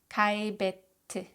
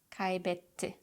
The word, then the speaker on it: kaybetti: In Turkish, we don't tap our double T's. Instead, we put a pause in between and we pronounce both T's very clearly. Hissetti, hissetti, bitti, bitti, gitti, gitti, kaybetti, kaybetti, yetti, yetti.